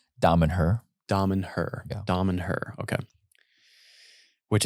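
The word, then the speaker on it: Damanhur: How do you pronounce? Damen-Her.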